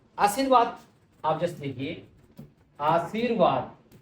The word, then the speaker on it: आशीर्वाद: आशीर्वाद आप जैसे देखिए आशीर्वाद उच्चारण की तरफ ध्यान देंगे आशीर्वाद है जो की आधा है आधा स्वर है तो वो वहां से पहले आएगा आशीर्वाद ये शुद्ध रूप है इसके अलावा किसी